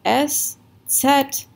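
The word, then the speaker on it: Eszett: de afk etc right so the way that you pronounce these are s and set it's kind of like zed in um i think in british english they'll say zed and so this is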